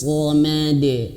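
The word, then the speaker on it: صمد: Allahus samad, hus-samad, dan kemudian shadnya tebalkan ya, karena memang sejatinya huruf shad itu tebal ya. Allahus samad, de samad, pantulkan, betul-betul pantulkan, sehingga di sini diberikan warna hijau seperti itu ya.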